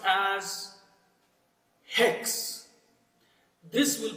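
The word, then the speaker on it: ἕξ: This will pronounce as hex. This will pronounce as hex. So wherever there is a rough breathing mark, the pronunciation of H will be added.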